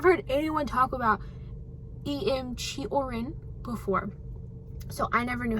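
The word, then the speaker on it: Cioran: say his name wrong just know that it's chorn and know that I'm better now because I've learned okay because now I know that it's chorin not seorin I have a soft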